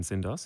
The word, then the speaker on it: Tsindos: name is syndos is my full name act which spells act weirdly enough wow um even though the tea is silent um but i was